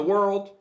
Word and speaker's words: world: So if we are surprised or shocked, not shocked but shocked, we can say what in the world world. We can also practice pronouncing world similar to curl.